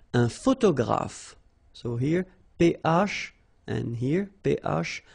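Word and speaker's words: photographe: two letters so okay a all right a photograph so here and here pronounce it like f f pH graph okay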